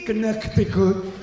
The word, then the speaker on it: Connecticut: Who knew that Connecticut had a silent C? Connecticut? Where's the C? Connecticut.